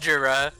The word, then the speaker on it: Gira: Well, you have that Even their new picture with album- Michael Gira though. Jura. You know it's pronounced Jura.